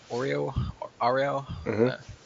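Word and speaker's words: Auril: His goddess is obviously, say it properly, it's like Ariel.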